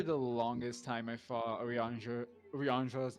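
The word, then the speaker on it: Urianger: about it just said orer like Ranger when it's actually pronounced Oran the um the r at the end of his name is not pronounced yep it's kind like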